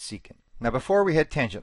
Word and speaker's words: secant: for the first time people often don't know how to pronounce it but it's seeking now before we had